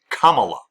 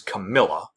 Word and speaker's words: Kamala: way to pronounce it Kamala Kamala it's not hard say it with me Kamala Kamala Kamala Harris it's not hard it's not Cala or As Trump will say it sometimes Camila Kamala it's not hard I